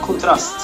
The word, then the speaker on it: Contrazt: nice oh we say we say contrast yeah yes so so it's uh pronounced in in no as well contrast oh ah really so